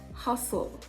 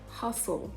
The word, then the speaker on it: hustle: now let's look at words in which the letter t appears at the middle and is silent you have it i